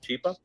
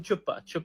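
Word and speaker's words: Chhipa: A humanitarian, his name is Mr. Chipa, and she starts mispronouncing, and she calls him Chupa, and yeah, Chupa is look it up, and that became a meme in itself in Pakistan.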